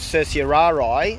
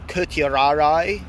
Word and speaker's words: certiorari: called the writ of certiorari, or certiorari, or, you know, who speaks Latin nowadays. Some people say they don't pronounce C as a S sound or a soft C, but as a K.